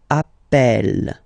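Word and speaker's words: appelle: the pronunciation of uh you tend to pronounce it like e e really open that's the reason why you pronounce it Appel Appel okay Appel Appel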